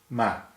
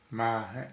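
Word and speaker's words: 么: Technically it's ma, has no tone, and it's usually just pronounced m.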